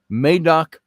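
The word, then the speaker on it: Madog: the myth of the welsh prince may doc i think is the way that's pronounced i'm not up on all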